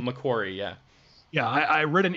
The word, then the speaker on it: McQuarrie: McQuarrie? McQuarrie, yeah.